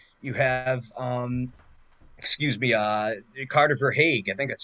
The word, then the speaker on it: Verhaeghe: You have, excuse me, Carter Verhaeghe. I think that's how you pronounce his name. He's been For great Hague. after moving. Yeah, Verhaeghe.